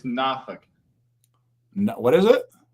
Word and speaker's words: Norfolk: It's Nafk. What is it? Nafk. That's Nafk. Nafk. Norfolk. They call it Noffk.